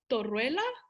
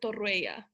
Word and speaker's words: Torruella: was the right pronunciation it actually it actually works both ways um torreilla or torreya okay yes okay so